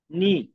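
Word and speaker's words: ぬ: প্রথম এক টান নি নি আশা করি নি কিভাবে লিখতে হয় আমরা শিখে গেছি। এখন আমরা দেখব নু কিভাবে লিখতে হয়। এটার উচ্চারণ হল নু।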